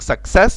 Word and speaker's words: success: النطق، فانت عندك success it has two c's، يعني فيها حرفين c. الاولانية تنطق suck يعني k k k k، التانية س س س success success، علشان السي التانية وراها اي فتنطق سي، اما السي الاولى مش وراها اي فتنطق كي.